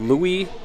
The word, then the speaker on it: Louis: Todd also shines some light this photo here is of Louis glare I was calling him Lewis earlier so I butchered that name too but Louis gler right